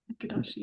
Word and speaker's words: Ekadashi: Has anyone here honored Ekadashi? Is that how you say it? Ekadashi.